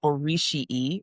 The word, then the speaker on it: Orisii: It was called Orishii, which is spelled Orisii, and that is Yoruba for pairs, like a pair of people, not a pair of shoes.